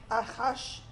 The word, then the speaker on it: Ahasuerus: Ahasuerus.